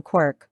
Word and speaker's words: quark: quarts for Mr Mark in which case the pronunciation Quirk would not be totally unjustified in any case the